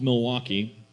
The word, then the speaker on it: Milwaukee: My parents separated, and my mom moved to South Milwaukee. We never pronounced the H there.